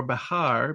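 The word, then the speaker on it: Bexar: where San Antonio sits in what we pronounce as Bear County or Bahar B X is The Alamo was originally San Antonio de Bahar.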